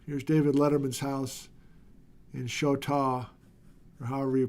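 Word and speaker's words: Choteau: with this guy Flint here's to Roger who helps me pronounce the name of that town in Montana as Shoto thank you Roger here's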